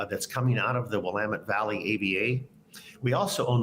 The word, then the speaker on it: Willamette: by saying you know it's Willamette damn it and that's a way for people to remember uh it's not Willamette or some other pronunciation